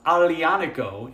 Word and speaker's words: Aglianico: So, number one, it's uncomfortable to pronounce. Um, aliono is how you pronounce it, and complex pronunciation can turn people off.